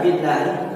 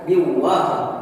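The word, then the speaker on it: بِاللّٰهِ: Sebelum saya lanjut, di dalam lafaz billahi di sini merupakan lafzul jalalah tarki atau lam jalalah yang dibaca tipis seperti itu. Jadi bacanya billahi, bukan biwah, melainkan billahi karena lam jalalahnya didahului harakat kasrah.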